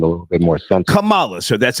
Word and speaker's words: Kamala: Kamala, so that's how you say her name. Right. Excuse Kamala.